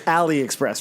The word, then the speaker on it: AliExpress: all right Mario so pretty sure it's Aliexpress right because it's like you know Alibaba yeah yeah I'm correcting